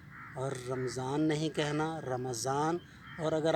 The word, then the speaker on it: رمضان: تو وہ لفظ ہے رمضان، جس کو ہم رمضان المبارک یا رمضان کہتے ہیں۔ اس کو آپ رمضان بولیں گے، میم کے اوپر زبر ہے، اور رمضان نہیں کہنا، رمضان۔ اور